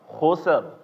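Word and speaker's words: خسر: fathah dan Dom domah ini dibacanya masih secara tebal enam coba kita coba bareng-bareng khusr khus iya khus khusr i jadi tebal ya Di akhirnya tebal khusr nah habis itu yang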